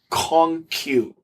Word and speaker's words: Kong Q: He is a ghost singer-songwriter for the popular and narcissistic boy idol Kong Q, pronounced very similar to peacock in Chinese, who is very handsome but can barely sing.